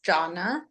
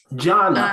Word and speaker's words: Gianna: but it's actually pronounced Janna Janna oh yeah it no it's okay it happens it looks like Giana but um it's Italian I'm named after my